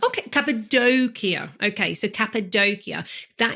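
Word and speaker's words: Cappadocia: your home Vineyards are in can you please pronounce it cap doia capadia okay capid doia okay so capid doia that is where your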